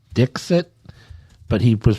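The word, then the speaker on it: Dikshit: her name I guess her last name is pronounced Dixit but he was pronouncing it as dick [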